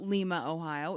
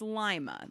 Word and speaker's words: Lima: The people in Ohio know it's not Lima, Ohio. It's Lima. That's how they pronounce it. That's a regional thing.